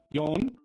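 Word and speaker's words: よん: that four and seven, there's two different ways to pronounce them, right? We have yon. I'm just going to write it in in Romaji, just forgive me here. Yon, and we have shi.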